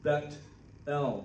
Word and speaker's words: Bethel: might say in hebrew bet l they pronounce the th as a t bethel the house of god